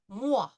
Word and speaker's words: moi: We pronounced it wa, moi, wa.